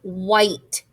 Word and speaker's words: white: the last word is white white snow is the color of white white so white has wh diagraph at the beginning the h is silent i i is the